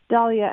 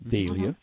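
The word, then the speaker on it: Dahlia: Spot M and um I love the way you're pronouncing Dalia not daia oh I didn't know well it was it was named after a gentleman named doll d a M and so uh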